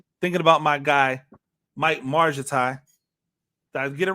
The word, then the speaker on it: Margittai: Well, I mean, if you're being American phonetic, then soft G with an I following it. So I understand where it's coming from, but you know, it's a Hungarian name. Margittai, Mike Margittai.